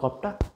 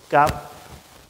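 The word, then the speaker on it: كاف: অফ অফ একটা ধাক্কা হবে হ্যা দুই নাকতওয়ালা কফটা একটু ধাক্কা দিয়ে বলতে হবে জিহ্বার গোড়া থেকে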